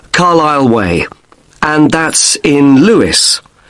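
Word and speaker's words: Carlisle: You don't pronounce the S. Carlile Way and that's in Lewis.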